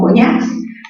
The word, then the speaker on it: coñacs: Lo mismo ocurre con coñacs, mayor fuerza en la sílaba ñacs.